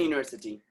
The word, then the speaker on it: university: So the person said, simple, you're going to put there an university. They were wrong, because actually university is starting with U, but the sound is what? Y.